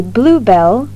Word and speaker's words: blue bell: Некоторые сложные слова, существительные и прилагательные, на письме выглядят одинаково и различаются лишь ударением. Посмотрите на следующее предложение и послушайте, как они звучат. A bluebell is a plant with blue or white flowers shaped like bells.